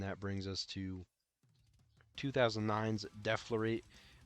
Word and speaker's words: Deflorate: And that brings us to 2009's Deflorate, which Deflorate is how you say it. A lot of people say Deflorate or Deflorate or something like that, but it's Deflorate.